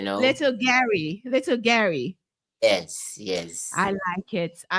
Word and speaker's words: Guerrier: well, with your accent, it will sound like that, little Guerrier, yes, but in French they say little Guerrier, you know. Little Gary.